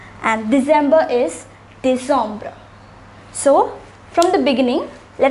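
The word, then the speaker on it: décembre: pronounced as nuambra and december is pronounced as de sombra once again september is september october is october november is nuam and december is dissombra so from the beginning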